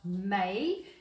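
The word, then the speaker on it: Maille: which is um it's spelt m-a-i-l-e but it's pronounced may it is a french mustard dijon mustard and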